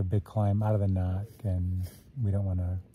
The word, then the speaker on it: NOC: uh we're trying to make it to the knock how do you say the knock then it's